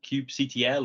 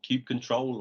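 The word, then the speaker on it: kubectl: there's a tool called cube ctl or cube control or cute cuddle depends on how you want to pronounce it and this is basically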